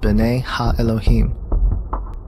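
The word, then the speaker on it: בני אלהים: of god mentioned here in the hebrew is pronounced bene elohim they are clearly describing fallen angels we know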